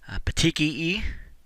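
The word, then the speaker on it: petechiae: see the next one petii e is how that word is pronounced these are very very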